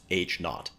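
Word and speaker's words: H₀: our null hypothesis as H naught that's H with a subscript 0 which is pronounced H naught H naught is a claim about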